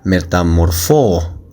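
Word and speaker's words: μεταμορφόω: En griego es eh aquí dice metamorfosis, hermanos, pero en griego es algo así como metamorfóo, algo así se pronuncia.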